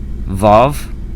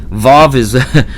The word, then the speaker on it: Vav: But at first it's mostly thought by scholars that at first it was pronounced with a wa sound, and then later, after